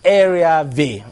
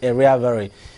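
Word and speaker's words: Airhiavbere: thing to pronounce but I understand it's pronounced area V or some some people would say area very uh of the PDP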